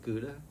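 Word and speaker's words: geuda: Was a lot of it is, especially on the sapphire side, they got this stuff they call, I think you pronounce it Gouda. Mm-hmm. Not the cheese.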